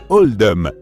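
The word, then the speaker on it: Oldham: été fait pour refléter la prononciation d'oldam dans l'accent local qui se rapproche davantage de oldum par cons qu c'est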